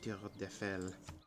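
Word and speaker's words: Tour Eiffel: The Tour d'Eiffel. That's how you say it in French.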